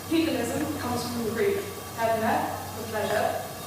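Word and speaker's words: ἡδονή: So, hedonism comes from the Greek hedone, for pleasure. It's spelled with an eta, which is a long E.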